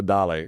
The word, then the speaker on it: Dale: I mean, that's Once I cross the border from 954 to 305, it turns into Dale. Give me the accent on the E.